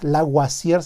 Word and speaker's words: Lavoisier: Y luego por ahí sale todavía Lavoisier se pronuncia en francés, que se avienta la puntada.